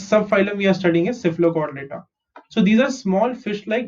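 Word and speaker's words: Cephalochordata: CC, PHA is fur, LO is low, CHOR is not chore, it is cord. Okay, not chore but cord. And data, Cephalocortal. Cephalocortal.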